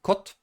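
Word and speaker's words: kod: In Polish, it's of course with the D at the end, but we always say the voiceless consonant at the end, so it will be pronounced like kot, kot, kot.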